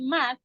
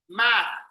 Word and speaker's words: math: The pronunciation de study math. Yes, study math. Math. Math. Remember, everybody, bite your tongue. Bite it. Math. Math. Good. If your tongue doesn't come out, you're not saying it right.